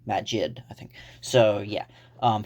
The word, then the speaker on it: Magid: believe it's magic you I think it's pronounced mag magic but with a d Magid I think so yeah